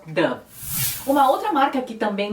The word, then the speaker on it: Dove: Que no Brasil a gente fala Dove ou Dove, mas em países que falam espanhol é um pouco mais próximo, a pronúncia é um pouco mais próxima do inglês, da maneira de se pronunciar em inglês. Não é exata, mas é mais próxima. Eles falam Dove.